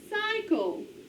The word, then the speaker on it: cycle: Alright, on this word we have final stable syllable C-L-E. Accents on the first syllable. Alright, and this Y is open syllable. It says its name. It's saying I. So how do we code it? Long I sound.